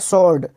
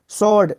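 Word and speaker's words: sword: एस डब्लू ओ आर डी इसको पढ़ते हैं सर्ड सर्ड क्या पढ़ते हैं सर्ड सर्ड मतलब होता है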